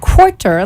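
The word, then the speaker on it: McQuirter: e r but it's pronounced quarter like the Big Mac Daddy Quarter Pounder that's how he told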